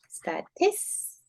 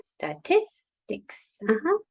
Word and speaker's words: statistics: Where is the stress? In the second syllable. Mhm. Statistics. Statistics.